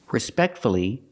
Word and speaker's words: respectfully: So with words like hopefully, respectfully, and successfully, we pronounce a U.